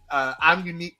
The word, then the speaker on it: Imunek: Driver, I'm unique. Listen, I'm not laughing at this woman's name, but I did. This girl, you know she black. Because the way it's spelled, it's IMUNEK. I'm unique. I'm unique.